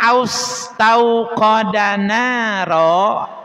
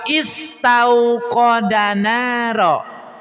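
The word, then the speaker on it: استوقد: Coba sekarang dibacanya hamzahnya itu fathah, domah atau kasrah dibacanya austauqodaro atau ustauqodaro atau istauqodaro. Tahu berarti hamzah wasalnya di kasih harakat apa? Kas kasrah.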